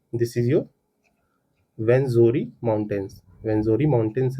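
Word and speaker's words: Rwenzori: This mountains are called the वेंजोरी are silent हो जाएगा। Saleable ये साइलेंट हो जाएगा। तो वेंजोरी माउंट्स कहते हैं इसको।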